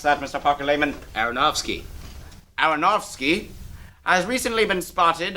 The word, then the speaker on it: Aronofsky: new film noah directed by darren how you pronounce that mr parker layman aronofsky aronofsky has recently been spotted along with cast